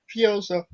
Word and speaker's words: Fuerza: Fuerza. Yes. Okay. Fair enough. I think I'm getting the Fuerza. Where? Fuerza. You got it. Where? Yeah, there's no roll the R.